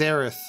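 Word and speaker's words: Aerith: on my part yeah her name is arth because it's like Earth it's Japanese mispronunciation Mist transation as usual Cloud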